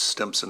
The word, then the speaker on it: Stimson: It's Stimson Avenue. There is no P in Stimson Avenue, although we see that quite often.